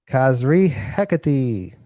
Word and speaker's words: Kazri Hekati: Kazri Hekati is the pronunciation of my name. Kazri Hekati.